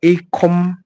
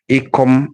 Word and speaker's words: Ikom: So I'm taking you to a place called Ikom. Ikom is spelled I-K-O-M.